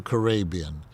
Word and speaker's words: Karabian: why, from Karabian to Karabian. I think they did it because it made it easier to pronounce. They said it's Karabian, Arabian with a K in front of it.